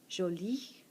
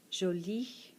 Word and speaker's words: jolie: Jolie. Jolie. These are both pronounced the same. The top one is talking about masculine things, the bottom is talking about feminine things. Jolie.